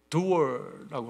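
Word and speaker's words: Dürer: 그 두어라고 하는 발음, 독일 발음인데, 이 두어라는 분 여러분 아실 겁니다.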